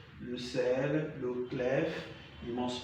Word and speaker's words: sel: So only the following French words are being pronounced at the end of the word. B, R, C, F, L. So these are the consonants pronounced at the end of the word. So we have club, le sac. Okay, there was a repetition. Le clef, le sel. So these are consonants pronounced at the end of a word.